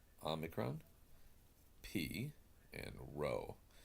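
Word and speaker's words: π: with this letter and you'll be tempted to call it pie in the irassman we will pronounce that as the P sound now you can call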